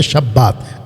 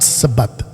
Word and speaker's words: शब्बात: खतना, शब्बात, हालांकि इसका राइट प्रोनाउंसिएशन है शब्बात, नॉट सबत के शब्बात।